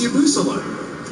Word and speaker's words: Yabusele: That's been your third pronunciation of that young man's name. Third different? Yes. So you're giving me a B- now? No, that's like a C-. It's Yabusele. Oh, you've said it 3 different ways.